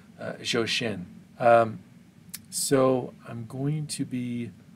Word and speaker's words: Zhou Shen: i believe if research serves me correctly you pronounce his name shoshen so i'm going to be reacting to his